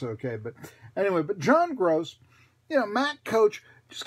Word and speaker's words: Groce: it's G ROC but pronounced like Greg gross okay but I know John gross you know Matt coach